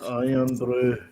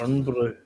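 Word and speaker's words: Irn-Bru: Yeah, the English, the Americans say earn brew. They're like, it's iron brew, not earn brew.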